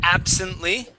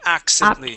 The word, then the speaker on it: absently: First up is absently. Okay, make sure to pronounce that B. You had said accently. Absently.